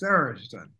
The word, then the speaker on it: Tharizdun: How do you pronounce Tharizdun originally? Tharizdun is Tharizdun.